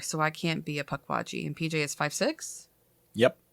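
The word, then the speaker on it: Pukwudgie: PW it's spelled Puck waji um but it's pronounced pck waji it is um supposed to be translated as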